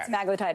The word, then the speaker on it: semaglutide: Yeah, because a lot of people say it wrong. Yes, okay. Semaglutide is correct.